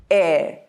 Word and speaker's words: heir: how the word is heir, whereas in the American pronunciation, it is heir. Heir. The R gets rolled. There are a few other words in English language where this first H is silent, like honest, honor, or ghost.